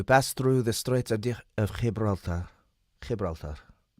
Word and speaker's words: Gibraltar: We passed through the Straits of Gibraltar. Gibraltar. Let's try it again. Spanish pronunciation Gibraltar. Gibraltar.